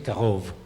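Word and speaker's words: קרוב: A veces se le quita la vav y se pone un puntico acá, sigue pronunciándose Karov.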